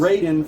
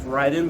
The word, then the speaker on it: Raiden: i think it was raiden from metal gear rising i think it's pronounced ryden but that's just me i called him raiden it might be right raiden's like thunder god all right i don't